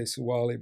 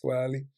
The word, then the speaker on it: Tsawali: People say Suwali, but it's properly pronounced Tsawali.